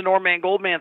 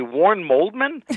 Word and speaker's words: Norman Goldman: and people would say, I'd say my name, Norman Goldman, and they'd say, Warren Moldman? And I never got them to say my name back. And I'd say, no, not Warren. Warren Moldman is not even a name.